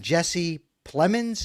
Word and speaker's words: Jesse Plemons: Does he recognize a similar talent in Jesse Plemons? Is that how I pronounce that?